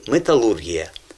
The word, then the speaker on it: металургія: І ще два слова, де змінилася назва в російській мові, наголос в російській мові змінився в 58-му році, а в українській залишився. Це індустрія і металургія.